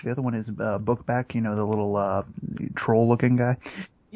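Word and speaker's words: Bukbak: On the ones that I watched originally, it was spelled B-U-K-B-A-K, which made sense. But I guess on the DVD they just decided to spell it phonetically, because it's literally spelled book back.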